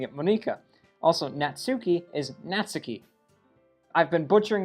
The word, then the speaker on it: Natsuki: The last 2 episodes I've been butchering her name, pronouncing it Monica. Also, Natsuki is Natsuki.